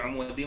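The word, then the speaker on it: عمد: Itu dibaca fi umud, bukan fi amadim mumaddadah. Nah, insyaallah mudah ya.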